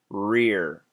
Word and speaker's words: rear: Rear, rear. Your tongue stays in the same position.